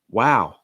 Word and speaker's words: wow: what like we've seen lowering the pitch and then lengthening it like wow wow like